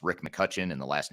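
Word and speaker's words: McCutcheon: version uh it's Rick McCutchen and the last name is spelled MCCC e h e o n so there's an e in there that's silent but it's muten but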